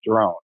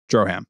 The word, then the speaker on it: Drohan: Have you heard it pronounced Drohan or is it drone? I've been saying drone in my head. No, the other way. Drohan. Drohan. Like Zohan.